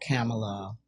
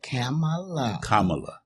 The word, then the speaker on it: Kamala: We got to make sure you say her name right. I said Kamala. Kamala. Okay. I don't want her to come and check you and tell you Vicky Dobbins is Kamala, not Kamala, okay. but Kamala.